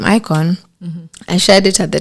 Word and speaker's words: Ikojn: it okay so actually the name icon is my name backwards ah okay yeah look at it in the J silent you know and honestly